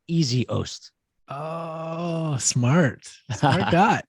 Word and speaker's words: Essihos: got the pronunciation and i wrote in parentheses next to your name e-a-s-y space o-h-s-t easy host oh smart oh my